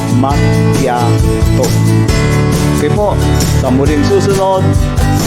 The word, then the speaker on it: macchiato: sila is maso ah sa Italian po pag nagdikit na yung double C at H ang nagiging bigkas po diyan is K. Ang tamang bigkas po ng is makato.